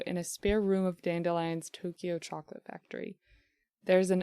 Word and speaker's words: Dandelion: more on the front i grew up calling it dandelion so but now people around me call it dandelion and i have to reckon with the fact that i may have been saying it wrong for decades like you're like dandelion like the eu's they get the i think i might have just like read it wrong as a kid and just no one